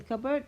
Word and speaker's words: cupboard: went to the cupboard the p in cupboard is silent we write it we don't pronounce it to find something to